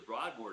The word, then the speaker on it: Broadmoor: who went to the Broadmoor down here in Colorado Springs. That's a luxury French chateau, five Well, star say it like you hotel. should. The Broadmoor. It is the Broadmoor.